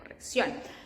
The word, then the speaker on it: corrección: That accent, it's an emphasis we do in the pronunciation of a word. For example, here that we say corrección, and it's because of this accent that we put that accent there, corrección.